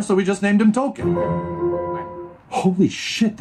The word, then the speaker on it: Tolkien: no no no no his name is actually tolkien after jr tolkien author lord of the rings i've been saying it wrong my bad y'all t-o-l-k-i-e-n hmm this is